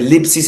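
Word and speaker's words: θλῖψις: encuentra con la palabra lipsis. Tiene una D y S al comienzo que me imagino que no se puede pronunciar. Son dos consonantes. No se puede. Pero está escrito D-S-L-I-P-S-I-S. Lipsis.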